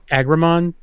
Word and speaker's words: Agramon: over to Kevin Agron how do you pronounce it is it AG Rahman yes oh nice I was I was saying it incorrectly I work today but